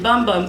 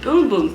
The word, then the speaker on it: Bum Bum: boom cream someone corrected I was saying bum bum cream but she said they pronounced it boom boom cream and I love this